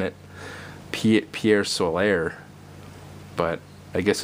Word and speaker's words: Pier Solar: I used to say Pier Solar or something, which someone pointed out. Why are you trying to say it like it's French?